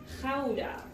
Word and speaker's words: Gouda: But in Holland we don't pronounce it as Gouda or Gouda, we say Gouda.